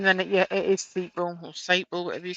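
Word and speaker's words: Sapele: I'm now getting told off because it's pronounced Seeply.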